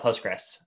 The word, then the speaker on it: Postgres: added support for sql we should have just left it postgres um that's the easiest way to not butcher the pronunciation just call it postgres um the other acceptable form is postgresql not postgresql so under the covers